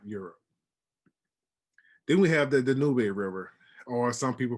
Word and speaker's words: Danube: Then we have the Danube River, or some people pronounce it Danube, which is the second largest river in all of Europe.